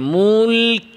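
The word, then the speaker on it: الملك: দিয়ে যাবে মুলক মুলক এরপরে আসেন কাফ কাফ উচ্চারণের সময় প্রথমে আওয়াজ বন্ধ এরপরে বাতাস মুলকুল খেয়াল করে কাফে প্রথমে আওয়াজ বন্ধ এরপরে বাতাস জারি এবং কাফ উচ্চারণে বাতাসটা কাফের মাখরাজ থেকে বের হবে জিহবার গোড়া থেকে যেখানে কাফের মাখরাজ এরকম মুলক শিনের মাখরাজ থেকে না মুলক এরকম না মুলক এভাবে না মুলকুল মুলকারা মুলক মুলকটা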